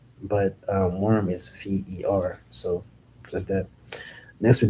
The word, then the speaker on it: ver: Worm is ver. le ver That's v e r. That is worm in uh in French. v e r. It's kind of like green. Cuz green is s- uh is ver but it's with a d e.